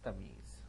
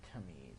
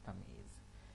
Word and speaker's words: Tamyeez: Better get the pronunciation right. It's Tamyeez, not Tamyeez. It's Tamyeez.